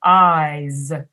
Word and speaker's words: eyes: all have two eyes made a vowel sound but you say it longer eyes and then the consonant sound at the end is voiced oh here's the tricky